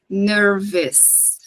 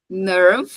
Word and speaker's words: nerves: ela termina em e esse e ele também não vai ser pronunciado não falem nervous ner ner no no singular ner no plural Ok and we have the